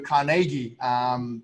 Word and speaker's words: Carnegie: I was watching a documentary too with Andrew Carnegie.